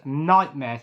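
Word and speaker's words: Knightmare: the next one is nightmares pronounced k n i nightmare um so this was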